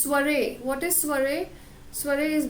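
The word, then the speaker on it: soirée: The last word is this, you will pronounce it as sorry, no, it's soiree.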